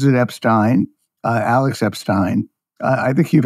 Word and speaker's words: Epstein: as well and of course uh uh he pronounces it Epstein Alex Epstein I think you've had him on